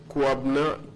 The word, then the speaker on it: Kwabena: Kwabna.